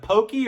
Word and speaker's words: poke: and they had a poke bar. Wait, is it pokey or poke? I don't know. But anyway, that's okay. Does poke rhyme with croquet? Anyway, pokey. I think it's pokey.